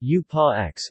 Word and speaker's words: Ursprache: Occasionally, the German term Ursprache from primordial and Sprache language, pronounced U-pa-X, is used instead.